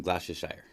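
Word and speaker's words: Gloucestershire: this I believe it's from England yes from glossia Shire England good pronunciation thank you good pronunciation took me a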